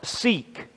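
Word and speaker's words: Siq: called a si Q which is pronounced seek like we would say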